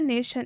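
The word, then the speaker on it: nation: रहा है ठीक है और टी के लिए क्या यूज़ हो रहा है टी के लिए आधा श टी के लिए आधा श और आई के लिए अ ये जब जुड़ रहा है तो क्या बन जा रहा है यहां पूरा श और ओ एन के लिए न क्या हो जा रहा है नेशन इस इस तरह से हम इसको पढ़ेंगे नेशन अ के लिए आपको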